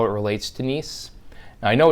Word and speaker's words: NIEM: how it relates to nice i know it's it's it looks like it's misspelled that's how it's spelled it is pronounced nice just like it was iece then there's a list